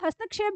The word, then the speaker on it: हस्तक्षेप: जब हम हस्तक्षेप बोलते हैं आधा क का उच्चारण होता है, तो उसी के चलते में कई बार हम इसमें गलतियां कर देते हैं। तो आपको पता है ना क का उच्चारण क्यों आ रहा है, क्योंकि यहाँ पर आधा क और ये मूर्धा श है, तो ये इसका उच्चारण आ रहा है क श, तो ये हस्तक्षेप है।